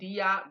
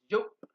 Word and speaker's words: Diop: Some might pronounce him Diop, but it's not. Joop.